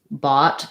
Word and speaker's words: bought: It can also be in like in bought. It can be an ah and a t sound. So O is one of the options. Uff, like tough and enough. Though, like, what else is O? Not too many. Bought and thought, right? Those have the ah sound.